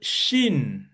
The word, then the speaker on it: Shin: donc vous allez voir, quand le point à droite, c'est-à-dire le Dagesh à droite, il se prononce che ou che de cette façon.